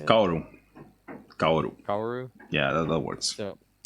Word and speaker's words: Kaworu: And this is a guy named Kaworu. Is that how you say it? Kaoru.